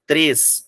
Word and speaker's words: três: Então, essa palavra, a diferença entre, ó, a palavra fé, que é aberta, a palavra três, que é fechado.